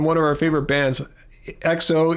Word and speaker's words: EXO: And we saw one a few years ago from one of our favorite bands, XO EXO it's spelled.